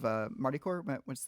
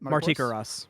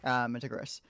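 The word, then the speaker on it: Martichoras: Very much reminds me of the new god release of Martikor. How do you exactly? Martikaras. Martikaras. Thank you. You have to pronounce it right. Martikaras.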